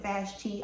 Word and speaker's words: Vashti: off his wife vashtai i think some people pronounce it vashti i preferred vashtai vashtai was out there